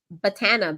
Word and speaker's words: batana: Batana, Batana, not banana. Batana. Well, I don't know how to say it. Oh, botana oil.